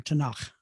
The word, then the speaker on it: Tanakh: well, it's pronounced in English, in Hebrew, as we say in Hebrew, Tanakh.